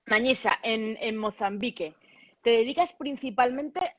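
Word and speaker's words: Manhiça: Manisa, Manisa, como si fuera una Mañisa, ñ, Manisa. Mañisa en Mozambique.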